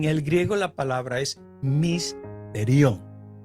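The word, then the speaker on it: mysterion: En el griego la palabra es misterión. Misterión. Se escribe M-Y-S-T-E-R-I-O-N.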